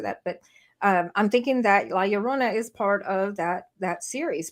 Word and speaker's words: La Llorona: La Llorona. I thought La Llorona. There's a yeah sound in there, and I can never say it right. La Llorona.